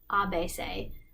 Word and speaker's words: ABC: reality they are activists the ABC in French is pronounced a base a which is like the abased they're friends of the